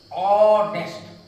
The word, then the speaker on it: honest: अब आप देखें कहा an honest, honest, इसलिए उच्चारण आ, एच साइलेंट है इसलिए आ का उच्चारण हुआ, आ का उच्चारण हुआ इसलिए एन का प्रयोग हुआ।